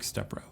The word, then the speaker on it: Stepro: It's Stepro with the Stepro. accent on the E.